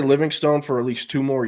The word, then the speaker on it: Livingstone: Everyone keeps talking about how Parker Livingston or Livingstone pronounces his name. I spoke with him and his dad to their face in high school uh multiple times and I always said Living Stone. I never said Livingston. I said Living Stone how it's pronounced.